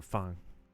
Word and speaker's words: Fang: You can call him Dr. Fang, but you can but technically it's pronounced Dr. Fun.